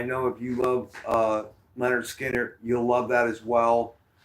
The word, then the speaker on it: Lynyrd Skynyrd: subsidiary of MCA records and they put out pronounce Leonard Skinner um I'm going to I'm going to list